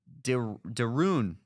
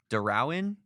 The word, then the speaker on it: Derouin: expected to promote John Deroun to pitching coach. I hope I didn't screw that up, but it's Derouin.